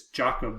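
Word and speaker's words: Jakob: called kreutzville jacob and i'm pronouncing that correctly it's not jacob it's jacob disease and it can come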